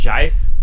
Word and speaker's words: GIF: to move they're hopping it's pron it's pronounced Jif j it's pronounced vaja